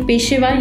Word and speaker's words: ਪੇਸ਼ੇਵਰ: ਪੇਸ਼ੇਵਰ ਜਾਂ ਪੇਸ਼ਵਾਰ is a different word, so ਪੇਸ਼ੇਵਰ is a more appropriate pronunciation of saying it।